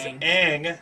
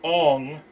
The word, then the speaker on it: Aang: Yeah, his name is Aang, not Ong.